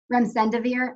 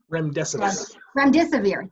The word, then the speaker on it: remdesivir: Gilead's remdesivir, I'm saying it wrong. Remdesivir, thank you. And once you say it wrong, you can't say it right.